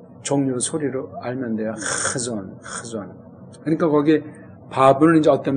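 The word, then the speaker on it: חזון: 그래서 그 뒤에 예샤야랑 묶어서 한 단어가 되기 때문에 이게 하존 이렇게 편안하게 발음해야 되잖아요.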